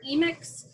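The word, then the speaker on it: emic: that particular culture the way i remember emix is if you think of the the m the me sound you can think of like me my culture emix edx or edicts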